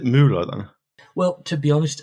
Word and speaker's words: Müller: I just realised I think I've always pronounced it incorrectly as Muller. Is it Müller then?